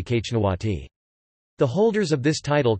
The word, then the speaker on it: xñtawati: The Lycian inscriptions indicate the monarch was titled Exnawati, more phonetically Kachnawati.